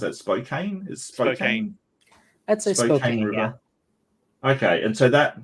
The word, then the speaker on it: Spokane: it Spokane River at Spokane how do you pronounce it Spokane is Spokane okay okay and so that that now makes